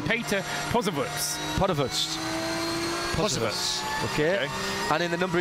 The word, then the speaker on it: Posewitz: Yes, we're indebted to Johannes Gauglica for passing us through the correct pronunciation. Peter Posewitz.